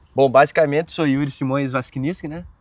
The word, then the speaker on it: Waskienicz: Bom, basicamente sou Yuri Simões Vasquiniski, né? O último nome é mais Eu complicado. nunca consegui pronunciar. É Vasquiniski. Também não. Cara, Vasquiniski.